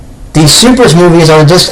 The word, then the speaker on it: SuperS: glare on the camera, this is Supers, or Super S, depending on the way you want to pronounce that. I believe it's actually pronounced Supers.